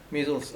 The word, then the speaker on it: Maysles: Albert and Is that how you pronounce it? yeah, Maysles.